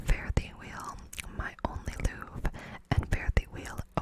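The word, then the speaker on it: luve: It was actually not spelled love. I know you think I'm mispronouncing it, but it's spelled L-U-V-E. Guess that was a thing in the 18th century.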